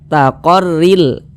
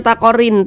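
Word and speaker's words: لِمُسْتَقَرٍّ لَهَا: Kami membacanya "taqarril." Taqarril. Jangan dibaca "taqarin." Taqarin. Tidak. Namun, gabungkan ke dalam huruf lam. Jadi, pengucapannya singkat karena tidak dinasalisasi. Jangan dibaca " rillaha," jangan dipanjang-panjangkan seperti itu. Jangan salah paham, ini pendek, dan tidak berdengung.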